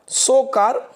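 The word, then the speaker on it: Tso Kar: स्थल था लद्दाख का सोकार वेटलैंड, ठीक है, TSO करके इसकी स्पेलिंग होती है, इसलिए ता पहले लगता है आधा, सोकार वेटलैंड लद्दाख का है दोस्तों।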